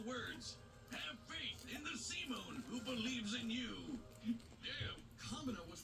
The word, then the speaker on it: Simon: would lead his last age 21 height 62 digger supreme commander pilot hermit pronounced Simone is a gun in the universe inspired by